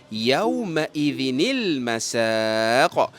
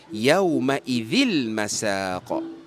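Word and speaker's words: يَوْمَئِذٍ الْمَسَاقُ: So kita bacanya yaumaidinil masa dan bukannya yaumaidil masaq.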